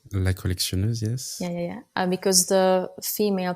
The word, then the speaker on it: La Collectionneuse: La Collectionneuse, yes.